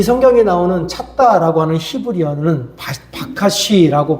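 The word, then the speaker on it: בקש: 이 성경에 나오는 찾다라고 하는 히브리어는 바카시라고 발음이 되는데 이 바카시라고 하는 히브리어는 단순한 탐색을 말하는 게 아니라 마음속 깊은 곳에 갈망하고 손을 뻗어서 그것을 잡으려고 하는 절박한 몸짓이라는 뜻입니다.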